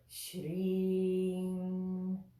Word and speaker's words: Śrīm: pronounce this appropriately as well and this is pronounced shame shame shame shame shame so this doesn't have